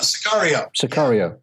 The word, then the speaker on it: Sicario: And also I think the most recent one was, maybe my pronunciation is wrong here, Matt. Sicario? Sicario.